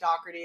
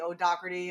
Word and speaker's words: Dougherty: Dohy is how I, as an American, would pronounce it, but if you're in Ireland, it could be Dockerty. If you want to do the Gaelic version, it could be O Doerty.